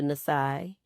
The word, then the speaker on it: NiSi: Changed it to Nisai. Um and because my business is Nisai's eyes, it kind of helps people understand how to say it, too. Yeah, cuz eyes and Nisai kind of rhyme a little bit.